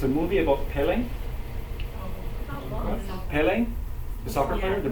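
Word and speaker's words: Pelé: watch the movie it's about the life of Pelle is how you pronounce his name p p it's about the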